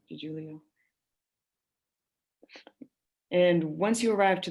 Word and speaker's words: DiGiulio: Special Agent DeJulio, correct. DiGiulio.